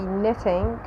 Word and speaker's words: knitting: In English, when K is followed by N, in most cases we do not pronounce K, okay? So it's always silent. So we say knife, we say knee, we say knitting, and so on.